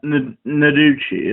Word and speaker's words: Noguchi: You brought up Noguchi. Is that pronouncing it correctly?